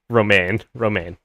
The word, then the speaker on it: Romijn: Romaine. Yeah, no, I know how her name is pronounced.